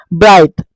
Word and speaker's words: bright: গতিকে আমি ফাইট বুলি উচ্চাৰণ কৰিছো যিটো GH সাইলেন্ট আছে ব্ৰাইট BRIT ব্ৰাইট BRIGHT ব্ৰাইট মাইট নাইট এইটো দেখিছে